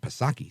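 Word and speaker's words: Psaki: like gen Circle back pasaki silent p i mean we're going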